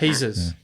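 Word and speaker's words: Jesús: Jesus. You don't pronounce the J.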